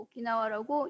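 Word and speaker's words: 沖縄: 한자로 층숭이라고 쓰고 오키나와라고 읽는 곳이라고 합니다.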